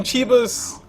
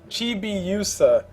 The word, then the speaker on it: Chibiusa: it's Chibiusa. There we go, Chibiusa presents DotA 2 tournament. That's how you're supposed to pronounce it.